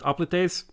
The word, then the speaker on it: hoplites: Hoplites are pronounced oplites.